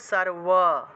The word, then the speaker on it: সর্ব: सर्व उच्चारण হবে सर्व, পরের উচ্চারণটা ওয়া রূপে, सर्व। ইয়া দেবী সর্বভূতেষু, সর্বটা, আচ্ছা আমি এখানে একটু ভেঙে লিখে দিই। সর্বটা কিভাবে হবে, সার ওয়া, সর্ব, এটা বুঝতে পারবেন তো আপনারা। সর্ব এইভাবে উচ্চারণটা হবে।